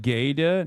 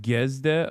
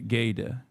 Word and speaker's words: Guesde: It's pronounced like Gede, not Gesde. Okay, Gede.